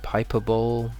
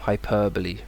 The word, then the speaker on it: hyperbole: one here is hyperbole people might say hyperball hyperbole hpbo hppo but no hyperbole hyperbole you're not going to need